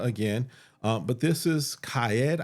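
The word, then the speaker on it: Qaed: um but this is CED I think is how it's pronounced QA a e d of course I'll have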